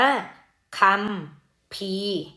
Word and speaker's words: คัมภีร์: ใหม่ หัด ถัก อาจ คำ นี้ อ่าน ว่า คำ ภีร์ มี ไหม หัน อากาศ แล้ว ก็ มี มอ ม้า เป็น ตัว สะกด คำ ภีร์ คำ เนี้ย คำ ใน